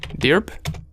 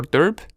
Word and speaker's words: dirb: And luckily, inside of our Kali Linux, if I open a second terminal and I type locate dirb or derb, however you want to pronounce it, we go to